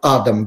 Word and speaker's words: Адам: тот же Адам Кадыров Адам вернее правильное ударение Судя по этому фильму